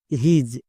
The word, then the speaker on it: his: এস এর জন্য ইজ তাহলে হো প্লাস ইজ হিজ একে আমরা হিস উচ্চারণ করতে পারবো না যদি হিস উচ্চারণ করো